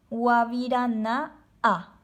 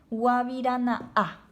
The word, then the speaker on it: guavirana'a: Manzana es guavirana'a. Guavirana'a. Hay un espacio en estas dos letras, entonces yo hago una pequeña pausa. Se dice guavirana'a.